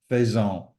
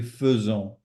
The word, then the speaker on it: faisons: fait, the nous form, the AI transforms from a pronunciation point of view into an E.